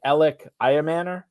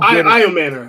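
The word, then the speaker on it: Ayomanor: his name I've heard El I Manor I've heard El amanor uh Shane you are the pronunciation King how do I pronounce it and how I Manor I man I Manor okay so how good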